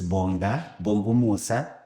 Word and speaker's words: Bongumusa: But without a waste of time, what the person that we have here is Bongumusa.